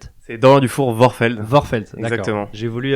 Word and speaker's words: Dufour-Vorfeld: C'est Dorian Dufour Vorfeld. Vorfeld, d'accord. Exactement. J'ai voulu ajouter un accent germanophone, mais en fait, c'est pas... Mais en fait, c'est néerlandais.